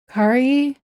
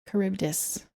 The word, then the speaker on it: Charybdis: Her pronunciation, pretty sure, and Mr. Streams. Oh, Charybdis. Kari Charybdis.